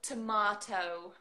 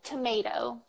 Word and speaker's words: tomato: did I know okay I'll say it in British I'm so tomahto Oh tomato tomato tomato you say it like a dot as well tomato yeah we don't even say the T half the time yeah yeah